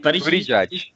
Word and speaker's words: Buttigieg: So then just before Super Tuesday, I think Pete Buttigieg, how do you pronounce his name? Buttigieg drops out.